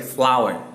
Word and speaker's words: flour: Ya, jadi bacanya untuk yang flour ini jangan baca flour ya, tapi flower. Seperti itu ya.